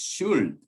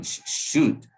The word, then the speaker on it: should: Sometimes students pronounce should. No, should. It rhymes with would, could, or good.